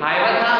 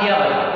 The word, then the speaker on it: Hiawatha: Now the pronunciation of this name are acceptable in 2 ways. Hiawatha or Hiawatha, both are acceptable, right?